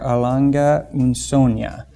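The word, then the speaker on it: Lange & Söhne: And then apples to oranges, Laurent Ferrier or Lange Sohne. Thank you to Masso for helping me to pronounce that correctly there.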